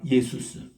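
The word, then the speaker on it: Ἰησοῦς: 그 요를 헬라말로서는 예수스. 우리 한국에서는 예수라고 번역하고 영어에서는 지저스라고 발음을 읽고, 그리고 이거를 꼭 같은 말인데 JESUS는 스페니시는 이 J 발음을 H로 읽어요.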